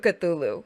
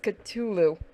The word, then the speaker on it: Cthulhu: So he's actually sitting next to my statue of Cthulhu, that's resin, and my mug that somebody got me custom made of Cthulhu.